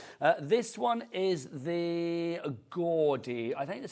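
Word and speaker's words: Gourde: Uh, this one is the Gordi. I think that's how you say it. G O U R D E. So, Gordy.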